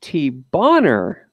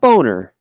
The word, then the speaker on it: T-Bonner: So I guess that would be pronounced T-Bonner 555. Yep, you got it. All right, not boner.